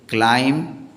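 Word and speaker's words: climb: इसके लिए हम लिखेंगे क्लाइम य बी का उच्चारण नहीं होता क्लाइम द लडर क्लाइम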